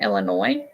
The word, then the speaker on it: Illinois: based on her video I didn't say that right Illinois right the S is silent isn't it I don't think I've